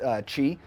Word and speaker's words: Qi: wireless Qi charging it's it's spelled Qi but pronounced Qi and so this pad is a inductive coil